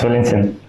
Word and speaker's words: Valentin: It's Valentin. It's more like a Slavic pronunciation.